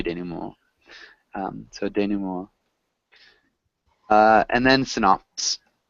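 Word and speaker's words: dénouement: action, falling action, denouement, It's a denouement. denouement. Yeah, somebody who speaks French can pronounce it better than I can, but at least my teachers would say denouement.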